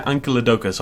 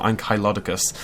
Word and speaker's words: Ankylosaurus: There is a new contender for worst dinosaur, and it is the Ankylosaurus, or Ankylosaurus, depending on your pronunciation. They pronounce it Ankylosaurus.